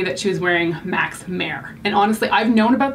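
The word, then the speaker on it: Mehr: When you think mare, you think like horse, right? This is spelled M-E-H-R, so I don't actually know what that is, but I knew how it was spelled.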